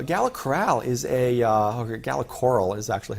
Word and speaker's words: Gala Coral: using splunk uh gala corral is a uh gala coral is actually how they pronounce it um is a uh betting service